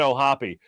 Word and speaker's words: O'Hoppe: One, I wanted to make sure I knew how to pronounce his name. Logan O'Hoppe.